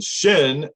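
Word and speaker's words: xin: and so and then that one is pronounced very similar to shin for american who doesn't speak chinese very well um but it's spelled typically if you see it x i n that's the emotional mind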